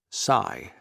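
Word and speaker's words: Sai: Cy Daniels, pronounced Cy, spelled S-A-I.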